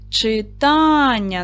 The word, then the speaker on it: читання: Читання на другий склад падає.